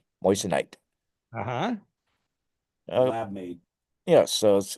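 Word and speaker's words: moissanite: said it's cheaper alternative called a moite I think I'm pronouncing that correctly Mo m o i SS a n i t moist night uhhuh lab made yes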